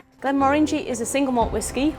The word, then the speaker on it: Glenmorangie: And the correct way to pronounce Glenmorangie is, think about this, is it's the orangey in Morangie that makes it Glenmorangie.